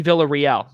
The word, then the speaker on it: Villarreal: name of sammy uh sammy villarreal is that the correct pronunciation it is uh say it again i said you got it a 10 all rookie